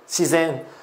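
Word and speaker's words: 自然: Phát âm của từ này sẽ là zen, shizen.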